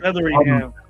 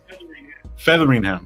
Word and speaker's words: Featheringham: Featheringham. Featheringham. Like feather. Feathering, like you're getting a feathering, like a hairy feather.